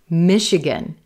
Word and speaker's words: Michigan: Michigan, Michigan. Silver Pin, Michigan. Yeah, Misha, Misha, Misha. Here that CH is going to sound like a sh, sh. SH is in ship or sheep.